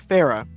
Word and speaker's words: Farah: As everyone came back to the caravan, turns out Farah, yeah, that's how you pronounce the name.